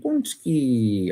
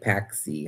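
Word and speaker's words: pączki: So, what is a punchki? Punchki. Okay. It's I know it looks like paxi how it's spelled.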